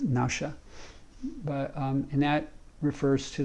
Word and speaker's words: nephesh: it as soul, and it's pronounced nausha, but it's spelled nephesh, N-E-P-H-E-S-H, and my understanding is it's pronounced nausha, but and that refers